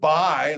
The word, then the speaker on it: buy: And then the word buy, like when you buy something, there's another pronunciation, or there's another word, buy. There's actually two other words. But this one, the U is silent.